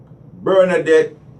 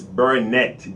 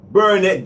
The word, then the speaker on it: Bernette: Her name is Bernadette Johnson. Chief Justice Bernett, B-E-R-N-E-T-T. Oh well, so you know what I mean.